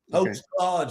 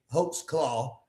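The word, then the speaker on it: Holtzclaw: Hulk claw. I'm I'm pronouncing that right. It's Yes. H O L T Z claw. C L A W. Hoax claw.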